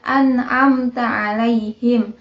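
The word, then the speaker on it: أنعمت عليهم: selanjutnya ayat ke-7 nah di situ cara membaca am amta alaihim tapi harus dibaca an amta alaihim Nah selanjutnya harokat di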